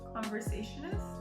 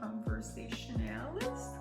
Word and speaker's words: conversationalist: I can't say it. Conversationist? How do you say it? Conversationalist or conversationist? Conversationalist. Conversationalist. Okay.